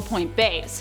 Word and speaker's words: Point B: I like to call them Point Bays, but B is also an acceptable pronunciation in my books, considering it's short for Beyond, so B. I just like saying Point Bay.